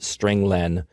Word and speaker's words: strlen: I pronounce it stringlen because it means string length.